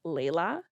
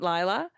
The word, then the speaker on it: Layla: Her response was, so my name is actually pronounced Layla, not Lila.